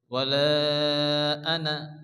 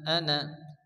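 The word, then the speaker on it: أنا: কি আছে জবর না এখানে কিন্তু আলিফ মাদার মত টানজি পড়া যাবে না এখানে আলিফ বাদ যাবে এটা হচ্ছে রসমুল খাত আমরা কায়দা পড়ে এসেছি লেখা আছে কিন্তু উচ্চারণ হবে না আনা আনা এখানে আলিফ মাদ্দা এক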